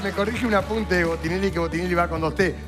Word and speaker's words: Botinelli: Pero me pronuncias mal. Botinelli. Botinelli.